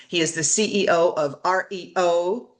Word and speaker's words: Aryo: Justin Abrams, he is the CEO of REO, but it's spelled like ARYO.